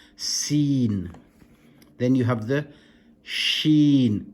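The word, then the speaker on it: سين: You then have seen, seen, a bit like the S, seen.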